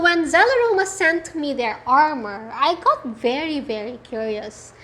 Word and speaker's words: Armore: It's spelled A-R-M-O-R-E. Yeah? So to me, that's Armore with Amor.